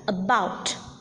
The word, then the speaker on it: about: For instance, in the words like about, deceive, delight, the second syllable is accented.